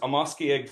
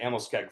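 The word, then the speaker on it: Amoskeag: So, the well-known fishing locations such as Amos Egg Falls, um, and I'm sure most of you pronounce it Amoske Falls, but in our language, the word for fish is Namasak.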